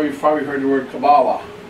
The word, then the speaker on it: Kabbalah: K-A-B-B-A-L-A-H. Kabbalah. How it's pronounced. Or you've probably heard the word Kabbalah.